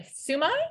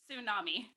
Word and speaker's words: tsunami: And her mission is to create a sumai. Is that how you pronounce it? A sumai? Tsunami.